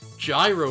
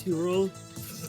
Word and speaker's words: Gyro: Gyro radar. Gyro radar. It's pronounced hero. It's a hero radar.